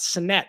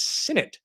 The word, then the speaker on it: Sinnett: I like Sinnett to win it, which is what he said, which for me, remember how to properly pronounce his name. It's not Sinnett, it's Sinnett. Sinnett to win it.